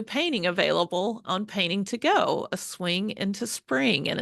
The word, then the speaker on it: Gogh: But the website is Painting to Go, spelled like Vincent Van Gogh, G-O-G-H, pretty clever, .com, Painting to Go.